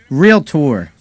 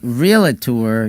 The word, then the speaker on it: realtor: in one of these how do you say that real tour it's not really tour uh if you say real it tour you're probably not a realtor i know a lot